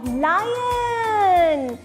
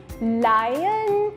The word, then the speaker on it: lion: फिर है लायन, LION, लायन। इसको आपने लॉयन नहीं बोलना, अगर लॉयन बोलोगे तो वो LOIN हो जाएगा और वो तो रॉन्ग स्पेलिंग है।